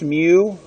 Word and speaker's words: mu: as the greek letter mu which looks like a curse of u it's pronounced mu like a cat me you it's really a little